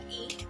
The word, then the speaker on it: y: it is inanimated uh which is pronounced as e in french uh placing same as